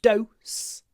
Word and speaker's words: dose: do even a small dose can be lethal do the o o is clipped before the S do dose so obviously dose and nose I'll pronounce differently do nose do nose strange